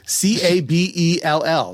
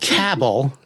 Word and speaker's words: Cabell: I'm from Cabell County, but um I'm down in that C A B E L L. Not cabell, not cabel, which people do say cabelly, but cabbell, right?